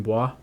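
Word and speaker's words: Bua: started growing up and one guy named Justin Bois and then that's how you say his name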